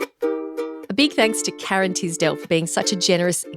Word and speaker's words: Tisdell: Do people say Tisdale? It's not Tisdale, it's Tisdell.